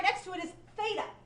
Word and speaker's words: Theta: say Theta for mea thetaa it's not Theta like f like um frog it's Theta like thick or thin I guess are two words that start with that sound right Theta okay so